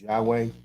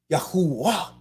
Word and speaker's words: Yahuwah: the dalit right so if yahudah is correct then it must be yahuwah right think about what i'm saying here it must be yahoo right can it be yahoo it has to be yahuwah ah right i'm talking